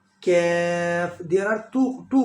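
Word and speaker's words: كاف: Kaf.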